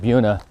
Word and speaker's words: Buena Vista: know you've been like we got Buena Vista and then it's like no a local said Buna then I just heard